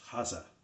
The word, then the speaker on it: Hase: or rabbit in german actually in germany be pronounced hassa much like porsche and i'm going to see